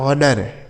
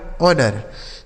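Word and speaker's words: honour: एच ओ एन ओ यू आर इसे पढ़ा जाएगा ऑनर। क्या पढ़ा जाएगा? ऑनर।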